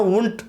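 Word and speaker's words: Wundt: कई किताबों में इनका उच्चारण उंट होता हुआ प्रतीत होता है, दिखाई पड़ता है, लेकिन ज़्यादातर इसका जो उच्चारण है वुंट आपको किया जाता है।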